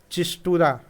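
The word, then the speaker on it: Schistura: The small fresh water fish, ठीक है, चिस्टूरा, ठीक है, एस साइलेंट रहेगा यहाँ, तो चिस्टूरा देखिए Hiranyakeshi, चिस्टूरा Hiranyakeshi was discovered in Maharashtra.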